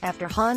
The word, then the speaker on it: Han: during the Lando mispronouncing Han's name. The correct way to pronounce Han is like on, but in Solo, Lando pronounces it more like hand, without the D.